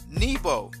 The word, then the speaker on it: Nebo: So the other way that you would pronounce Nabu is Nebo, which is how he's described in the Bible. He's called Nebo.